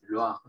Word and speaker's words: Loire: Este río que es francés, el río Loira, Loire, se dice en francés, Loire.